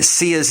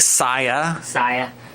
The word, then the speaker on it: Sia: hey, just a reminder, the way to say Sia's name is Sia. He spells it out phonetically. Because I guess some people were saying Saya.